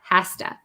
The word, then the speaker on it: has to: okay he has to the O becomes an a sound has the S becomes or the the kind of z sound becomes an s haa hasta is that understandable oh